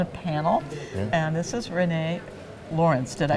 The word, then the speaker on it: Rene Laurens: just both on a panel and this is Renee Lawrence did I pronounce it right that's correct is it close or perfect fix me if it was Rene lawren is fine yes that's great so tell us